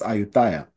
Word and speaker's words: Ayutthaya: There is an Ayodhya in Southeast Asia, although it is pronounced Ayutthaya.